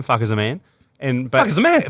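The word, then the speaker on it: Fakhar Zaman: Because I love Fuck is a man because that's how you say his name, Fuck is a man.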